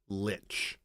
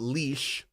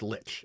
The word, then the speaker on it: lich: you are speaking and in English that is Lynch so that's what I've that's what I used to call it leash which is actually a German pronunciation um and from what I understand and um yeah but now I I basically said like told no that's you know it's Lich if you're saying it in English you say Lich